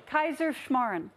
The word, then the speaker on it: Kaiserschmarrn: breakfast that none of us can pronounce, a Kaiserschmarrn. Good, very good attempt. That was it. That wasn't it, but close. Okay. There are two ways to spell it, but only one way to say it. Oh! Kaiserschmarrn.